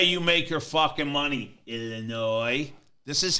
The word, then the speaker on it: Illinois: that S is silent. Shouldn't it be Illinois? We're not French. No, it's Illinois is French. It's from the French.